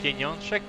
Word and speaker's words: Pieniążek: I'm gonna wait for him to help with the pronunciation before I even attempt that. It's Pieniążek, of course.